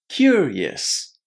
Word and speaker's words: curious: Now, connect them. Curious. Curious. When you say curious, you need to connect cure and yes. The yes is a little bit shorter than the normal standard yes. Okay? So it's yes. Yes. Very very short.